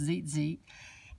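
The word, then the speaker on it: tzitzit: shawl, and the tassel, which is spelled T-Z-I-T-Z-I-T. It's pronounced zit, and I enjoyed reading about it so much that I decided to go ahead and do this page today.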